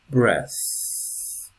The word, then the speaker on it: breath: that breathe we okay so it's nice here because we have the noun breath the verb breathe breathe within breathe out okay good oh